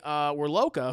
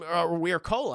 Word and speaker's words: Wirkola: Harbour and directed by Tommy Wirloka, who I am, Wirkola, I believe that's how you say his name, who I'm very unfamiliar with, Chad.